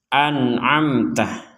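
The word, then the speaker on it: أنعمت: Nah, yang perlu diperhatikan anamtah. Ini dua-duanya dibaca jelas. Dua-duanya dibaca jelas. Anamtah. Yang pertama hamzah, yang kedua ain. Jangan sama-sama hamzah, jangan juga sama-sama ain.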